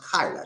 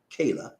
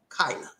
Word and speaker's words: Kayla: is kyla richardson okay it's pronounced kyla not kayla kyla and she's a beautiful